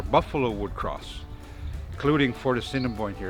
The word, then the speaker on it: Assiniboine: the river where buffalo would cross, including Fort Assiniboine here. It's actually pronounced Assiniboine.